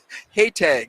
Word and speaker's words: Haytag: Haytag rhymes with Maytag, but Haytag. So the J that is pronounced a G.